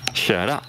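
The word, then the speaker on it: köra: Donc, le K devient CH. Très important aussi, parce que ça ne vient pas tout de suite. Quand on vient du français, se dire que le K change sa prononciation s'il est en face d'une voyelle. Mais pourtant, c'est vrai.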